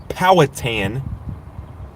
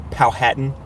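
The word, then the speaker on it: Powhatan: So we have some blips popping up in um Cumberland moving towards Pland uh Powatan or Powhattan however you guys like to pronounce it. I call it Powatan County.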